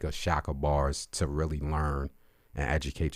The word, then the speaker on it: Chakabars: His name is spelled CHAKABARS, Shaka Bars.